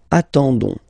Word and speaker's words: attendons: ending for nous, so O-N-S, okay, you don't pronounce the S, so you get only this on sound, okay. Attendons, nous attendons, so we'll make the link between the two, la liaison.